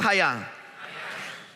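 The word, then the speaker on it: חָיָה: Diga conmigo, hayá. Cuando cuando leí esta palabra y escuché su pronunciación, se me vinieron a la mente los niños, porque lo que se me vino a la mente fue que cuando se dijera la palabra, sonaba como un caraquetazo.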